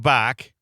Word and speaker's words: Bach: with Jane and Greg Bach. And it's, which is rhymes with Megan Lach. That's how we pronounce it.